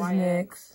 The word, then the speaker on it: NYX: I use the, what do they pronounce it as? NYX? I say NYX. NYX, yeah, it is NYX.